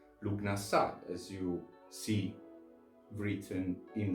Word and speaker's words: Lughnasadh: In other instances, we find the name Lugnasa as a softer pronunciation of Lugnasad, as you see written in the title below.